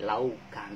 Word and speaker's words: لَوْ كَانُوا: Laukan. Oh iya, kalau kita makan pasti ada nasi dan juga ada lauk. Kata kuncinya itu lauk pauk. Lauk. Nah, tapi bacanya laukan. Jangan disambung ya, karena tidak bertasydid.